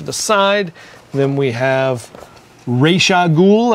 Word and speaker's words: Ra's al Ghul: side then we have rag ghoul I'm going to pronounce it just like they did in the animated series not razag goul as they say on Arrow now uh rag ghoul